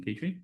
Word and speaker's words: Petrie: Miss Madison, is it Petrie? Come on down. Tell us a little bit about yourself and why you want to join. And make sure my pronunciation was correct? Yeah, Petri, like Petri dish.